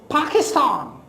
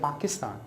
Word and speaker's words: Pakistan: man ah further on but if I say PA k ist am so that should be pronounced with more force with more like you know power with more sort of you know flow so it becomes Pakistan but because we do not know about the aspiration we said Pakistan and then we make